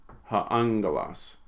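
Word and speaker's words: ὁ ἄγγελος: Remember, when two gammas go together, oops, lost my Greek there. When two gammas go together, they're pronounced like an ng. Ha-angelos.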